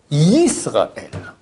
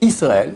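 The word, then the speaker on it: ישראל: Le I, ça c'est Aleph Yud. Or, c'est pas Aleph Yud, c'est Yud. Yud, c'est Y. Donc c'est Shema Yisraël. Et Israël, c'est faux.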